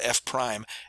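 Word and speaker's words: f′: F with a little apostrophe there that's called F prime F Prime and it's missing the equal sign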